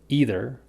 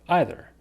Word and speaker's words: either: So the word is either or either. I personally think that either is a little bit more common than either, but both are really common and you can say it however you like.